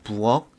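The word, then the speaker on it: 부엌: 자, 자세히 보면은 쌍기역, 키읔은 기역으로, 자, 부억, 복 모두 다 기역으로 발음이 되죠.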